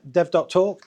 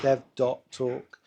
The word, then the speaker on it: dev.talk: good I think we'll get started hello everyone hello thank you all for coming so welcome to De dev. talk that's how it's pronounced dev. talk not Dev talk which is what I keep